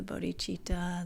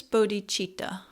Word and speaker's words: bodhicitta: okay so what is bodhichitta alright so bodhichitta is a Sanskrit term right consisting of two syllables Bodhi and cheetah and Bodhi means enlightenment